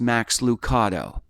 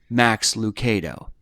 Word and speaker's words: Max Lucado: was talking about him and he said it's pronounced max lucato and i went well i was just listening to max lucado on the radio and he pronounces his own name max lucado and the thing i'll always remember is this